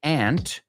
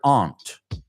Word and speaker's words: aunt: I want to introduce you to my aunt. You can also pronounce that word aunt. In the United States, too, there are some people who say aunt, and then us normal people who say aunt.